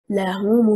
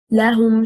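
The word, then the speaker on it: لَهُمُ: The stress is on حركة الهاء. Why? Because here it is an affirmation lam plus a pronoun hum. If we say لهم المنصورون, لهم stressing on حركة اللام,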